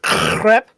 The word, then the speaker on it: crepe: It's pronounced crepe. If it doesn't sound like you're strangling an animal when you say it, you're not saying it right.